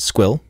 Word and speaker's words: SQL: He pronounced it squill, rhymes with quill, intentionally every time.